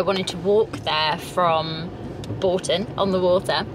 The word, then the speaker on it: Bourton: I can't believe we've said Bourton wrong. The whole vlog, sorry. So Bourton-on-the-Water. We'll have to dub over and every time we say it, Bourton.